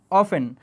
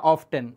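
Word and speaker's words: often: কখনের থেকে ইম্পর্টেন্ট হচ্ছে অফেন এটাকে উচ্চারণে অফেনও বলা যায় ব্রিটিশ প্রোনাউন্সিয়েশন আর আমেরিকান প্রোনাউন্সিয়েশনে অফটেন এটা যদি কেউ অফটেন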